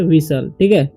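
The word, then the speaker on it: whistle: है उसी तरीके से डब्लू एच आई एस टी एल ई तो वाइल नहीं पढ़ना या विस्टल नहीं पढ़ना पढ़ना है इसे विसल मिसल पढ़ना है ठीक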